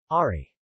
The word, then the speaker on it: ári: In singing, however, it is normally pronounced much like the American English. R. Ari.